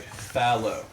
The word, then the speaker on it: Fallow: Knight Fallow. So fellow, but an A.